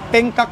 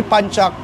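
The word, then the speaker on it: pencak: pag um sa Pilipinas kasi wrong pronunciation eh. Pengcock sila actually panchak from the word panchak mal nagagamit na ng panchak tausog nagagamit ng panchak.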